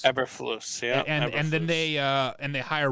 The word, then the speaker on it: Eberflus: Eberflus. Eberflus, yeah.